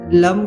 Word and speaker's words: लं: बीज मंत्र लम का उच्चारण इस प्रकार होगा। लम इससे पहले गहरा श्वास लें। फिर लम अक्षर का उच्चारण करके मम की ध्वनि निकालें। मम की ध्वनि निकलते हुए इस बात का ध्यान रखें कि मम की ध्वनि लंबी होनी चाहिए।